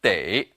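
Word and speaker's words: 得: is also pronounced but here it should be pronounced day in a previous lesson we learned that this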